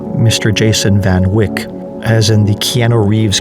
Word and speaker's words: van Wyk: So in the last episode, I've called Van Wyk Mr. Jason van Wyk, as in the Keanu Reeves character. It's pronounced differently. I stand corrected. It's Jason van Wyk, like bike.